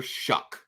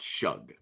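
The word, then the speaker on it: Shough: It's Tyler Shuck, not Shug. I know how it's spelled, but it's Shuck.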